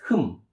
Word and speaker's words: 흠: When you put the mium, it will pronounce as hum, hum, hum.